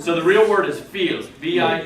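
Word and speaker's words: viel: alation accent but so the real word is feel VI e l pronounced with a n feel that's much yeah that's like much a lot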